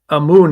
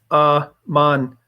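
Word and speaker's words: אמן: So it's Amun, it says, but it's actually pronounced Aman.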